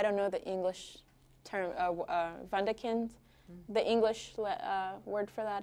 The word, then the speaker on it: Wunderkind: But I think in German it's Wunderkind.